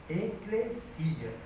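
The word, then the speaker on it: ekklesia: então é eia né a pronúncia certa é eclesia que vem da preposição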